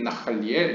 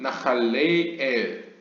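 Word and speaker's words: נחליאל: Do not read 나할리엘. 여기서 나할리엘을 나할리엘이라고 읽지 말고 but 나할레엘, 나할레 띄고 엘이라고 번역해라.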